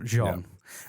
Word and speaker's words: Jean: just seeing it very badly i'm sorry sorry john cretchen uh hey good job that was good